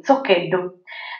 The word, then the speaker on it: Zoccheddu: Ah, beh, il mio cognome, Zoccheddu. Dovrebbe essere pronunciato così, Zoccheddu.